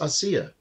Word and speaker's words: Asia: barbara and asea argento asia well no i think it's pronounced asea well well when i tried to look it up they had the accent on the first syllable but are you serious